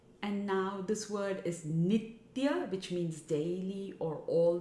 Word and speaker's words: nitya: all three words need to come together and pronounced as one so it's so don't break up and now this word is nitya which means daily or all the time it is not nithya remember in the earlier verse meant dance but